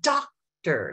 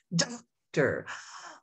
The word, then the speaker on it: doctor: Say doctor. Let me put my hand under my chin. Doctor. On that first syllable, my mouth opened wider. I emphasized it. I accented it.